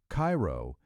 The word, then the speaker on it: Cairo: Number 13, Cairo, Illinois. Cairo, and yes, the locals say it like the syrup, not the city over in Egypt, sits at the exact